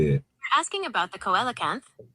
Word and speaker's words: coelacanth: You're asking about the coelacanth, pronounced coelacanth.